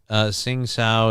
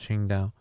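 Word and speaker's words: Qingdao: Symphony of the Night, Sing Sao is pronounced Ching Dao.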